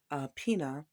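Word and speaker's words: César Pina: DJ Envy and someone some people call him Caesar uh Pia but I heard another pronunciation of Cesar Pina now here's my thought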